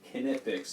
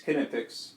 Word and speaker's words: Knipex: Yes, Knipex. That is the German pronunciation of it.